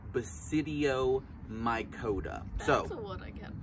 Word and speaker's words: Basidiomycota: So bass like the what? Fish. Bass like the fish. Bass. Grandpa might catch them. Sid like Sid the science kid.